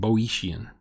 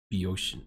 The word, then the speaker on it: Boeotian: Oh, the first O is silent. Okay. I was saying Boeotian. It's Beoshian.